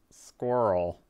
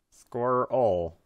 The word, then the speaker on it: squirrel: just pronouncing it wrong actually squirrel has two syllables squirrel squirrel try saying i squirrel